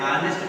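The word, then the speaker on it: honest: लेकिन जब हम इसको ऑनेस्ट पढ़ रहे हैं, क्या पढ़ रहे हैं, ऑनेस्ट पढ़ रहे हैं, आ से शुरू हो रहा है, तो इसका उच्चारण स्वर की तरह है, वॉवल्स की तरह है, इसलिए यहाँ पर एन लगा।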